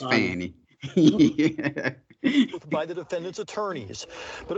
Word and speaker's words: Fani: questioned under o uh I don't think her name is pronounced uh how' she say it Fannie I think it's Fanny by the defendant attorneys